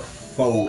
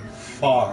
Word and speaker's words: pho: The internet won't shut up about whatever the fuck pho is.